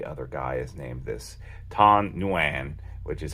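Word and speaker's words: Thanh Nguyen: Vietnam uh every other guy is named this tan nuan which is how you pronounce it too I looked it up a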